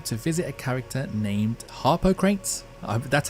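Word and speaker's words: Harpocrates: of the game to visit a character named Harper crates that's how you pronounce it that's how you spell it anyway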